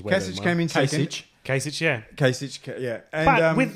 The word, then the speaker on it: Kasich: cich cich came in second that's better your pronunciation way came in Kasich yeah Kasich yeah and with like half the